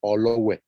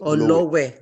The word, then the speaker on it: Olowe: ahead yes good evening my name is actually pronounced as my surname is olowe not oh no way sorry I am half